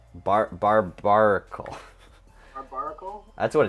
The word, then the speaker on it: Barbaracle: I call it Barbacle. Barbaracle. Barbaracle? That's what it's spelled like.